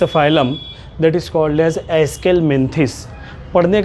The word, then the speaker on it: Aschelminthes: About the next phylum that is called as एस्केलमेंथिस. पढ़ने का भी प्रोनाउंसिएशन ध्यान रखना है बच्चों. अभी आपका नया मामला है, दुश्वारी आएगी, नई टर्मिनोलॉजी का सामना होगा, तो ध्यान रखना है. एस्केलमेंथिस या इसी का दूसरा नाम है दैट इज़